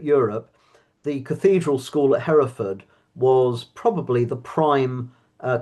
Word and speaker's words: Hereford: Do you call it Harford or Hford or how do you pronounce it? Heraford.